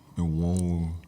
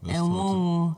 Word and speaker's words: Enwonwu: late celebrated Nigerian creative artist, Professor Benedict Chukwukadibia Enwonwu. Good try. What was up about that? Enwonwu. Enwonwu. Yes, Enwonwu. That's how I pronounce his surname.